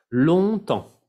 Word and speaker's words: longtemps: Longtemps, longtemps. La G no se pronuncia, la P tampoco, la S tampoco, y ahí es un sonido nasal, en comme France.